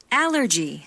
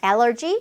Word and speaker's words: allergy: allergy, allergy, battery, battery, cholesterol, cholesterol. 이게 조금 어렵죠? 레에 강세가 있어요. cholesterol 이렇게 발음이 됩니다.